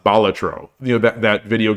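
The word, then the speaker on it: Balatro: break they love Bal I think it's pronounced batro you know that that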